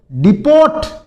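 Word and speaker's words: depot: फिर देखो डिपोर्ट डिपोर्ट नहीं होता। इसमें टी साइलेंट रहता है।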